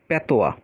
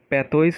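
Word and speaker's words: patois: ওয়ার্ডটা পড়বো সেটা হচ্ছে প্যাথোয়া প্যাথোয়া এটার উচ্চারণ প্যাথোয়াও হয় আবার প্যাথোজও হয় এটা অনেকে আসলে অনেক রকম উচ্চারণ করে তো এইটার মানে হচ্ছে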